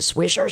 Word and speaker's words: Swisher: Is it Swisher Sweets or Switzer?